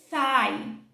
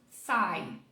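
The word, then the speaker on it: thigh: da sua perna coxa sai sai repara que esse GH também tá fazendo vários nadas aqui não é pronunciado sai sai se você substituir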